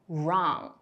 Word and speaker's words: wrong: 第二个 WR 开头 W 不发音，比如 Right, Wrong.